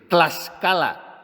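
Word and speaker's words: Tlaxcala: tlascala que es hay ese fonema en México tan difícil de pronunciar para nosotros propio de la lengua Azteca la t con la l no hay quien lo pronuncie pues tlascala Y claro se llamó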